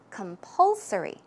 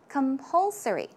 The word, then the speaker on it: compulsory: difficult word so keep it in mind the pronunciation the stress goes right here so it's compulsory compulsory as I mentioned it means mandatory also obligatory